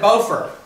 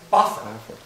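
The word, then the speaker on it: Bofur: uh did it uh now beefer and bofer right no biffer and buffer now who would have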